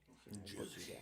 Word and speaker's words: Jussie: How do you properly pronounce his name? Jussie Smollett. Jussie Smollet. Yeah. Jussie. Yeah. Juicy.